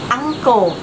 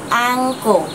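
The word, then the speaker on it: ankle: sẽ không độc lạ ăn cổ mà chúng ta sẽ đọc là An cổ chúng ta cũng sẽ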